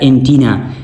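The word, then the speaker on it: antennae: जिस तरह एंटीना एंटीना हमारे पास लेटन नाउन है। ठीक है? कि जिनको हम इंग्लिश लैंग्वेज के अंदर इस्तेमाल करते हैं। ये चेंज होता है एंटी ने। एंटीने एंटीने प्रोनाउंस होता है।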